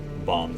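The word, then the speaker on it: Balm: would be ironic given my name bomb says even though it's spelled b-a-l-m but you could also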